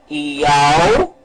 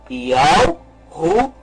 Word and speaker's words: Yahushua: Então vamos pronunciar o nome. Yahushua. Vamos novamente pronunciar. Yahushua. Este é o nome correto.